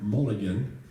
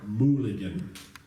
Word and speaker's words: Mulligan: time he introduced himself, he was not Mark Mulligan. He was Mark Mulligan. And I got to thinking about Mulligan, and he's an Irishman, and what rhymes with Mulligan, but it had to be hooligan.